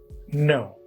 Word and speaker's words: know: often then no k-n-o-w K and N together becomes no n then b's d